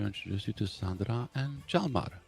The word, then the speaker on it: Jalmar: And I want to introduce you to Sandra and Jalmar. Jalmar, I'm pronouncing your name Oh, right.